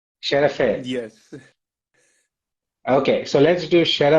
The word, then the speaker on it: şerefe: şerefe. Sherafe. Yes, Okay, so let's do Sherafe to the Christmas edition 2022. perfect. Sherafe. Şerefe.